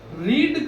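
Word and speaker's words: read: बाद क्या लेना है बी रीड का ना थर्ड फॉर्म और सेकंड फॉर्म दोनों एक ही स्पेलिंग होता है आर एडी रीड टू होता है रेड ठीक है are eddy रेड third form होता है रेड पढ़ा जाता है रेड आर ई ए डी रेड तो क्या हो जाएगा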